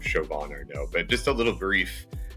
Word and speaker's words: Chauvin Arnoux: Chauvin Arnoux, yes. Chauvin. Yes, so, I was close. Yeah. Now, we'll never be able to pronounce it with its true French flair.